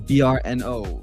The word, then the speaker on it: Brno: You're in BRNO. BRNO. How do you even pronounce that?